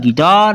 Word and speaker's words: guitar: GUITAR गिटार, यहाँ U के बाद I है।